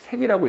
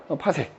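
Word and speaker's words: 파섹: 그 다음에 나오는 단위가 이제 바로 뭐냐면 PC라고 쓰고 읽을 때는 파색이라고 읽거든. 파색.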